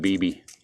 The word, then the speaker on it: Bibby: I think it was Bibby. That's the way I spelled my last name. I pronounce it Bibi.